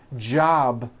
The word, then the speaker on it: job: For example, job ends in a B, which is a voiced sound. Job. It's not job with an unvoiced P. Keep the voicing going throughout the whole word. Job with a voiced B ending.